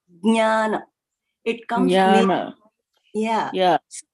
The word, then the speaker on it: Jnana: And I would probably stick with Jnana, like that's how we pronounce it, like Nya. So yes. When you say that letters in, that's what. Pronunciation. Mm-hmm. That is Jnana.